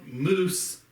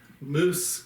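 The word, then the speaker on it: Muth: a candy store and it's called moose candies and i may pronounce that wrong uh it's moose m-u-t-h candies i don't know if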